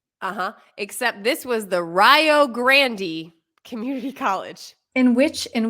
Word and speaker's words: Rio Grande: for example there was and how would you pronounce this r-i-o -g-r-a-n-d-e hold on a second Community College r-i-o-g-r-a-n-d-e okay